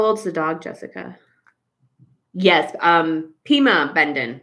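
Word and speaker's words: Pimobendan: Pima Bendon. No R. Pima Bendon. Thank you. Unless there's another one called Prima Bendon, but I think it's just Pima Bendon.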